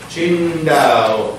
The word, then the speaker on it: Qingdao: Qingdao.